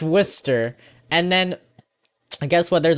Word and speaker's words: Worcester: live in Massachusetts well people was Worchester no it's actually Worcester I remember this oh yeah it's Worster and then guess what